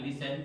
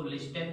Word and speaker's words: listen: इसका प्रोनाउंसिएशन होता है लिसन, टी इसमें साइलेंट होता है, इसको लिस्टेन नहीं लिसन पढ़ते हैं, और इसका मतलब होता है सुनना।